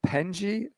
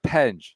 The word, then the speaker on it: Penge: And Penji's been a big sore subject with the Euro crowd. People are like, oh, God damn it. I cringe every time you go to it's Penge. It's Penge. You're getting popped for all